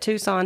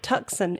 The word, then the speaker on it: Tucson: We did the one from Tucson, Arizona, but if you know that Tucson is spelled T U C S O N. And so his his intro he pronounced it Tuxen, Arizona.